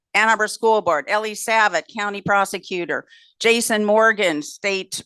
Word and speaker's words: Savit: Eli Nathans, Ellie Savit, it's Ellie Savit, is how you pronounce Ellie.